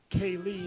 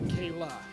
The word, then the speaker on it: Kaylie: apologize they've corrected me it is Kaye not Kayla oh I didn't even